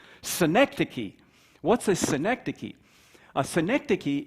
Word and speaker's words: synecdoche: how to pronounce synecdocly it's actually easier to say the noun which is a synecdoche which is not a city in new york by the way but it does sound like fun synecdoche what's a synecdoche a